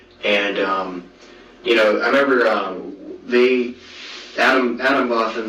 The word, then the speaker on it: Atomwaffen: dedicated, huge numbers of Adam Waffen guys on there, and you know, I remember Adam Waffen, like I say Waffen because it's like Waffen is in arms.